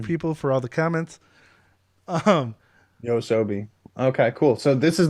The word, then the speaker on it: Yoasobi: It took me so long to actually figure out how to pronounce this, but thank you people for all the comments. Yosobi.